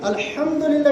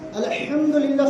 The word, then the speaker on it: আলহামদুলিল্লাহ: আমরা প্রতিনিয়ত আলহামদুলিল্লাহ শব্দ উল্লেখ করি, কিন্তু আমরা উচ্চারণ সঠিক না করলে আমাদের পরিণতি কি হবে? হা মিম দাল, আরবিতে দুইটা হা আছে, একটা হচ্ছে হায়ে হাওয়াজ বলা হয়, আর একটা হায়ে কুত্তি বলা হয়।